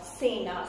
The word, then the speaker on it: cena: And when C is followed by I or E, then it sounds like say, Englishes. For example, Cesar, cena. Cena means dinner in Spanish.